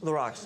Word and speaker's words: LaRock: LaRock.